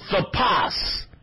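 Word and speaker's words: תָּפַשׂ: And if you look it up, the proper pronunciation of it is thapas.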